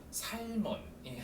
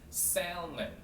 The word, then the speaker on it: salmon: 영어는 영어로 살몬이 아니라 salmon 이렇게 발음하시면 되세요.